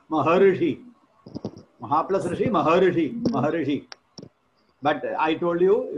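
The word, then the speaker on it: महर्षि: But I told you, in your side, you will pronounce it as Maharishi. Rishi you will pronounce. Ri. Because you will not pronounce R. R. Very difficult for the powerful climatical condition. Because in the area will be either hot or cold. So your mouth will not be properly setting for pronouncing R sound. So you will pronounce Ri. With the support of E, you will pronounce the sound R.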